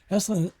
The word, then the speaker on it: Esalen: Can you tell me about am I pronouncing right, Esalen? Yeah. What is that? Esalen, it's an institute, and it's a beautiful piece of property in the Big Sur on Highway 1.